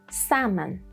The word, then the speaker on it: salmon: Then when there is lm like in salmon and sometimes it depends on your accent.